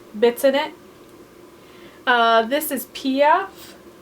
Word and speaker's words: Piaf: This is Piaf, pronounced Piaf.